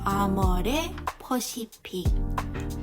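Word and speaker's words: AmorePacific: With a more Pacific, we'll notice that the RE sound, which is not pronounced in English, will be pronounced as le in Korean. So Amore Pacific, Amore Pacific.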